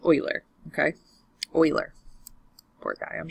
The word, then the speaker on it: Euler: the natural number funny name here yes it's pronounced Euler okay wheeler poor guy I'm sure that it